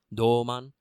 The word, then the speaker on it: Douman: putting so much emphasis it's a long o in Doleman in my notes I've made sure to write it with the U so you get the o sound and also because then